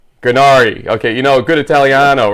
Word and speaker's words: Gurnari: Gurnari. Gurnari.